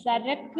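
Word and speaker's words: सड़क: കൊടുത്തത് കണ്ടോ നിങ്ങള് അപ്പൊ ആ ഡുയിട്ട് അതിന്റെ അടിയിൽ ഡോട്ട് ഇട്ടാൽ നമ്മൾ റ ര എന്നുള്ള ഒരു ഉച്ചാരണമാണ് വരുന്നത് സരക്ക് എന്നൊക്കെ പറഞ്ഞത് സരക്ക് നിങ്ങൾ സടക്ക് എന്ന് പറഞ്ഞാൽ കുഴപ്പമില്ല നമ്മൾ കുറച്ച് വലുതായി കഴിയുമ്പോഴാണ് അതിന്റെ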